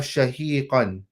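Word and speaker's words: شاهقا: It is a sheen and then a ha. Ha is not like ha, two different letters. So do not pronounce it as a ha. This is ha, which comes from the bottom part of the throat, close to the chest area.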